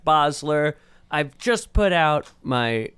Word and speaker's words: Basler: Bosler. It's not how Tom says it, but that is how it's pronounced.